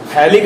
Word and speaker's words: थैलिक: जैसे एरोमेटिक में देख लेते हैं, COOH, COOH, ये है हैलिक अम्ल बोलते हैं इसको। क्या बोलते हैं? हैलिक अम्ल। स्पेलिंग पी से शुरू होती है, PTHALIC, अथैलिक अम्ल।